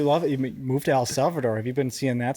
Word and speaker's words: El Salvador: El Salvador. Mhm. Am I saying that right? Yeah. Thank you. Joe can speak perfect Spanish. Yeah. so. How do you say that in Spanish? El Salvador. Perfect. So I wanted to make